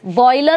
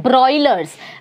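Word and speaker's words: broilers: बॉयलर नहीं, हाँ ब्रॉयलर्स, BRO।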